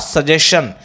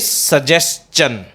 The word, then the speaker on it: suggestion: STION ending है, it means it इज नॉट सजेशन, इट इज सजेस्चन.